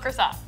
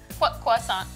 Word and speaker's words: croissant: how to make rainbow croissants. Quissant. How do you say it? Depends on how French you want to sound. You could say croissant. Cissant orissant. Rainbow croissant.